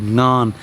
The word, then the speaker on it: ngon: to need to do if you want to nail the word ngon. I find the NG sound is one of the hardest things foreigners encounter, although I think it's mainly